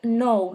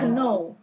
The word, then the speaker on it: know: But in fact, the language itself evolved over time, and people start to silent the K.